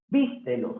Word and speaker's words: vístelo: Vístelo, sí. ¿Por qué? Porque es una palabra esdrújula.